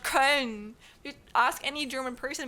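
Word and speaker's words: Köln: I'm not paying I don't know how much money to go to Cologne, not Karn. You ask any German person, we're going to pronounce it as Karn.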